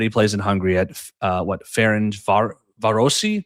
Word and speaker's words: Ferencváros: But he plays for, and this is another pronunciation attempt. Let me know how I do. But he plays in Hungary at Ferencvárosi. Ferencváros.